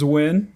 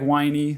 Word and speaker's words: Wynne: my last name is wi like the hotel in Vegas like the hotel in Vegas but it has an e on the end a silent e a silent E boy